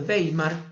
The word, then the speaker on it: Weimar: república la república de weimar que se escribe ueimar con w la república de weimar